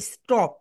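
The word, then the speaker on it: stop: এটাকে এখন তুমি এখন বলবে স্টপ। কি বলবে বলো তো? স্টপ। কেন বলবে? এস এর পরে টি রয়েছে, এই কারণে এটা রাইট প্রোনাউন্সিয়েশন হবে টি। রাইট প্রোনাউন্সিয়েশন টি, এটাকে আমরা ঠা বলতে পারবো না, বুঝতে পেরেছো?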